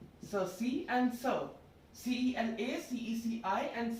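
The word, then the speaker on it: ceci: So Sala, Cerci, and Sir.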